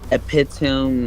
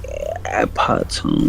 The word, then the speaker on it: epitome: On synonyms of which there is extant and epitome, no, epitome, no, epitome, epitome by, it's not epitome, is it?